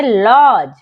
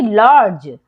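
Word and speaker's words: lodge: डी हो जाएगा silent तो पढ़ेंगे लॉज ना कि लॉर्डज डी साइलेंट हो जाएगा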